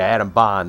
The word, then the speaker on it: Adam Bond: atom bone bond set pronounce it right bond which we know is artix ceo paladin of artix entertainment yeah adam bond that's how it's pronounced so until blizzard builds